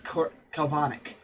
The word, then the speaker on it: Kelvonic: But technically, if you want to go by the correct pronunciation, well, not correct, my pronunciation of the energy is Kelvonic energy.